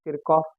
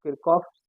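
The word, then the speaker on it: Kirchhoff: okay and in English we say in English pronunciation of this is kirov voltage law okay so you can say kof's voltage law or K's voltage law okay it's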